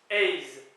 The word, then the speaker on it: eizh: sûr cette sails seizh 8 Ace comme un peu ate en anglais 9 nav 10 deck